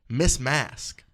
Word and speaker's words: Masque: we are talking about Miss mask is her name m mask is it Miz or M Ms Ms so miss mask okay mask and mask is spelled m s QE like masquerade yuck her real name